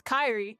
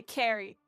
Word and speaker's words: Kyrie: get my name wrong my name's Kyrie but people say Carrie and I just made